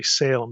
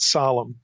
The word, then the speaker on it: Salem: I'm I'm going to try not to say Salem since that's such an angelized pronunciation here but solemn Psalm 762 that in the